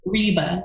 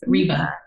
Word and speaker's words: Ryba: having a moment of is it okay if I pronounce my name for you I love that I love that no no Reba yes Reba thank you I I